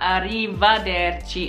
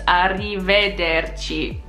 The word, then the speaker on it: arrivederci: It's not arrivederci, it's arrivederci. Not arriva, it's arrive. So if you say arrivederci, people know you're not local because you're saying arrivederci instead of arrivederci.